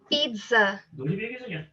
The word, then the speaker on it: pizza: Yeah, pizza, buffalo, Pizza, pizza. So it has the pizza. it's pronounced It is it's pizza.